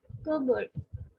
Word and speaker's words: cupboard: sound in this is curved what is it curved so p is silent in this and even uh r